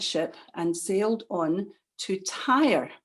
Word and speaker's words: Tyre: So Paul and his companions joined that ship and sailed on to Tyre. It's spelled T-Y-R-E, like car tire, in Syria.